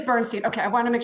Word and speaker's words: Bernstein: just submit her actually tell me how to say your last name Bernstein it is Bernstein okay I want to